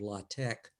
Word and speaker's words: LaTeX: back to Greek, and the pronunciation is tech, as in technical.